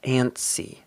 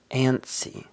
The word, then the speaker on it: antsy: rats in the future antsy to feel ant ansy to be antsy notice here that we don't really pronounce the T it's just ansy ansy an C but stress